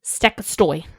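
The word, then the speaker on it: Stekkjastaur: This is Stekkastoy. Not how I would have pronounced I know.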